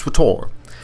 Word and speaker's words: SWTOR: We go back even further in Star Wars history with our number 4 pick, Star Wars The Old Republic, pronounced SWTOR.